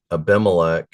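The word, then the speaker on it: Abimelech: Pronounce it again. Ahub. Ahitub. And Aimilec the son of Abathar were priests and Shabsha was secretary.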